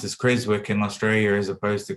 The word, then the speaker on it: Creswick: to start the drilling in creswick um it's pronounced as crazy work in australia as opposed to krzyk it's not asylum w the um the uh